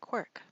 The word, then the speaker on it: CWRC: literary and cultural studies we pronounce its acronym quirk its forerunner and inspiration